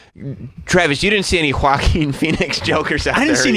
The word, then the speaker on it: Joaquin: It's not Joaquims. It's Joaquin. Sorry, I mispronounced it.